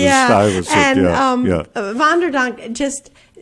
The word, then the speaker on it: Stuyvesant: I'm saying the wrong way. Well, no, that's the way we pronounce it, Stuyvesant.